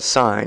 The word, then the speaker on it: sine: these functions a sign and I call I pronounce that sign it's if I were to write it out